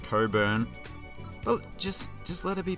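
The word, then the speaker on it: Cockburn: Now, I predict that somebody in the comments is going to tell me that it's pronounced differently, like how this surname is somehow pronounced Coburn.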